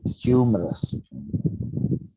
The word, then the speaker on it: humorous: let's just check yay humorous so if you listen to it again humorous yeah humorous yeah so the stress is first humorous yes let's try